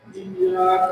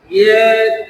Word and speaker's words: إياك: إياك نعبد وإياك نستعين মানে ইয়ার তাসদিদটা আর একটু ক্লিয়ার করতে হবে। ইয়াটা দুইবার হবে। إياك نعبد وإياك نستعين اهدنا